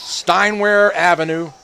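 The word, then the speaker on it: Steinwehr Avenue: Steinware Avenue. That's how you pronounce it.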